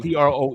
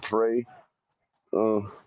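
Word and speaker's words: Proe: saying no I'm saying that's how I spelled p r o e yeah pro pro what's going on Pro you could I guess I guess you could possibly uh pronounce it prey U because some people in English pronounce in American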